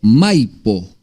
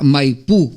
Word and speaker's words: Maipo: lo que estaba pasando, llega la palabra Maipú, con acento en la U. Pero el río se llamaba Maipo, y se llama Maipo hasta el día de hoy.